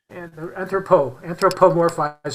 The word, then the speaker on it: anthropomorphize: They can't, they humanize or anthropomorphize. How do you say it again? Anthropomorphize, yeah. Anthropomorphize. Anthropomorphize. There's an extra syllable.